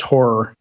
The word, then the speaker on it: HAR: Yeah, and Fernanda said in the chat, har file is pronounced horror. As in horrifying horror.